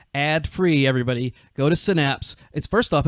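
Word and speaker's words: Cinapse: I write, and I'm also an editor at a site called Synapse, and that's spelled C-I-N like cinema, A-P-S-E, and I've been doing that for several years now.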